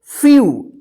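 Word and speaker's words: few: देखिए यहां पे ई का यू उच्चारण हो रहा है, यू, ठीक है। इसको ध्यान रखिएगा कि जब किसी वर्ड में ई के बाद लास्ट में डब्ल्यू रहता है तो इस ई और डब्ल्यू का यू उच्चारण होगा, ठीक है।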